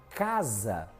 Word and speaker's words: casa: A própria palavra exemplo, a própria palavra casa tem som de Z, mas se escreve com S.